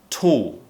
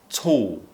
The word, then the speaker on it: tall: Look at my face when I pronounce a word like tall. Tall. So my tongue is not moving, it's staying up, kind of floating at the top of the mouth, as if I'm about to pronounce a L sound, but I'm just kind of stopping and not producing the full L sound. So tall or always, always.